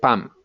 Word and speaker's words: pan: So the bread, the word for bread is pan, P-A-N, but in Cali they call it pam. That's the way to pronounce it.